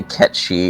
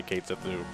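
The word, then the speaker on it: Cait Sith: And that's how I learned it was Ketchi, because before that I used to say Kate Sethu.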